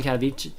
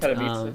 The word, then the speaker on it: Katowice: guys had about the 100K world champion in Katowice. That's how you pronounce it, right? And Katowice, yeah. Katowice, sorry.